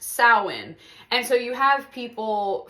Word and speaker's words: Samhain: um but he also was like oh it's pronounced sa and so you have people from all over